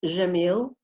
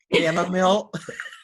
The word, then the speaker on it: Gammill: Have you Well- ever heard it pronounced, the Gammill pronounced Jamil? Gammill.